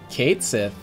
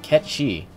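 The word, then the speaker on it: Cait Sith: Kate Sith, or how I found it it's apparently supposed to be pronounced, Ket Shi, is the support for this Lost Chapter.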